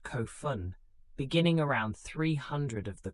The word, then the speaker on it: Kofun: The Kofun period, pronounced Kofun, beginning around 300 of the common era, takes its name from the massive burial mounds constructed for deceased rulers.